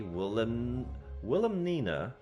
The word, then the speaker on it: Wilhelmina: Interestingly, Wilhelmina, I need to remember how to pronounce the name. Wilhelmina. Willem, because there's an L, Wilhelm, because it's Wilhelm.